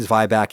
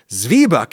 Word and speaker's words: zwieback: I heard "zwy-back", and so, I say "zwy-back", and I said "zwy-back" in the video, and some dude just sent me a "well actually" email informing me, "Oh, it's pronounced zwieback in Germany."